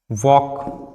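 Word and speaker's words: walk: वो साइलेंट होता है जैसे कि टॉक वॉक पक यहां पर एल जो है वो किसके साथ आया है के के साथ आया है इसीलिए एल क्या हो जाएगा य प साइलेंट हो जाएगा अगर एफ के साथ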